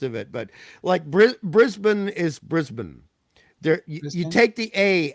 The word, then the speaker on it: Brisbane: But Brisbane is Brisbane. There you take the A out of the part of the name. Brisbane.